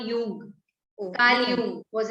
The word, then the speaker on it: Jung: Meher, Jung. J is silent. It's called Jung.